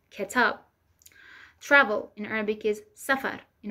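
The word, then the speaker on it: کتاب: Book in Arabic is kitab, in Persian is ketab.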